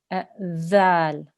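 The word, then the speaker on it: ذال: This letter here, this is dhal. Dhal. Okay? Your tongue should touch your top front teeth and make it a th sound, not a z sound. There shouldn't be a buzzing sound there.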